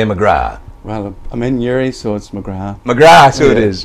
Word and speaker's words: McGrath: Well, I'm in Newry, so it's McGrath.